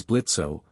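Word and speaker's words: Blitzø: The grumpy one is my husband, Moxy, and the tall fella is Blitzo. The O is silent.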